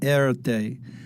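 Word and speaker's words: Erté: Today we know him by his pseudonym, Erte. It's the French pronunciation of his initials.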